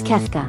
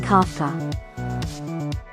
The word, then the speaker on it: Kefka: Okay, text-to-speech is saying it wrong. It's Kefka. But it keeps saying Kafka.